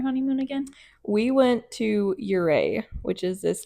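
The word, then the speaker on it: Ouray: I mean, it's spelled really weird and it's like pronounced really weird. So, O R A Y or something.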